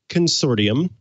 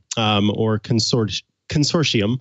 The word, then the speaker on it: consortium: There is a group called the Unicode Consortium Consortium. I used to pronounce it consortium, and then I learned it was consortium as opposed to pronouncing the T.